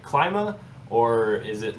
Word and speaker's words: Klima: So what's the pronunciation? Is it like when I say climate, like Klima, or is it like Klima?